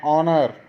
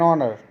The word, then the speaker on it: honor: ये भी वर्ड्स देखिए H से स्टार्ट हो रहे हैं, लेकिन हमें स्पेलिंग्स का फर्स्ट लेटर लिखा हुआ वोवल नहीं देखना, हमने उसके साउंड को पहचानना है। उसका साउंड वोवल में आना चाहिए, तभी हम एन लगाएंगे।